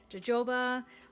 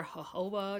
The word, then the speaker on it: jojoba: They are long lasting and I love the color of argan oil and jojoba or jojoba, depending on how you pronounce it.